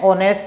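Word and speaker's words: honest: देने वाला होना चाहिए, लेकिन यहाँ पर एच साइलेंट है इसलिए हम यहाँ लगाएंगे एन, एन ऑनेस्ट मैन, एन एयर, एच से शुरू हुआ लेकिन एच यहाँ पर साइलेंट है इसलिए एन लगा है, एन एयर।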